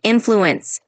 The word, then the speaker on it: influence: Just a quick tip, when you say influence, just emphasize the first part like influence.